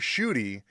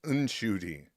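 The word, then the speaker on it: Ncuti: Oh yeah, because he had been saying it was Shooty, and then his mother corrects him and says, "No, child, it's Unshooty."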